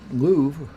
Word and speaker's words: Louvre: but in all seriousness the impera see the Louvre is that how you pronounce it yes it's very I was shocked